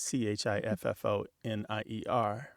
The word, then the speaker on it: chiffonier: And then that lovely French word that you share, chiffonnier, is chiffonier.